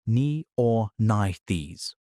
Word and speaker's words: Neornithes: A specific subgroup of small, toothless, beaked, flying theropods called the Neornithes. Pronounced nee-or-nith-ees.